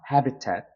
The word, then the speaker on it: habitat: 그래서 이걸 읽을 때는 habitat이라고 읽어야 됩니다. habitat.